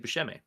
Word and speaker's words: Buscemi: We say with Steve Buscemi, where he pronounced it Buscemi, and then he went like, I believe he's